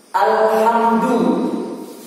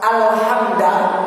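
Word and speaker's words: الحمد: Alhamdu itu yang paling populer, dalnya dhamma. Nanti bisa pembacanya dalnya fathah. Alhamda, saya akan jelaskan satu-satu. Nanti bisa juga dibaca alhamdi, dalnya kasroh.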